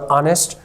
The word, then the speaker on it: honest: एन इसलिए लगाया क्योंकि मेरा एडजेक्टिव एच है, प्रोनाउंस नहीं हो रहा ऑनेस्ट, और मैंने पर्सन लगाया।